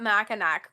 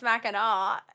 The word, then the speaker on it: Mackinac: I thought Mackinac growing up, and then I like found out, oh, it's Mackinac, and I'm like, that's why I called it Mackinac because of how it's spelled.